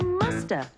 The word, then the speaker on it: must have: mean must have been we can say must have in conversation and sometimes we don't pronounce the v and so you hear musta she must have been